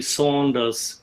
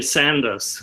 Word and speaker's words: Sanders: first of all I I like your pronunciation Bernie Saunders because oh sorry here here is here is called Bernie Sanders but it's all right